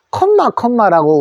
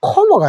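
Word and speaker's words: comma: 그래서 우리가 콤마라고 하는데, 영어에서는 자음 두 자가 있으면 소리 한 번만 냅니다. 그래서 한 번만 내기 때문에 요거는 코고요. 자음 한 번만 내십시오. 앞에 거 내지 말고요. 요거를 한 번만, 미음에다가 요거를 어서 하면은 코머가 됩니다.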